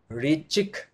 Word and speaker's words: ऋचिक: ऋचिक ऋचिक ऋचिक, यहाँ पे शब्दों में उच्चारण में थोड़ा सा, क्योंकि बहुत क्लियर फॉन्ट